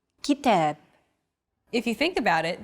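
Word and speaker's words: كتاب: of stressed syllables GitHub kitab notice that the second syllable is stressed it's pronounced longer and louder while the first and final syllables are shortened kitab if you think about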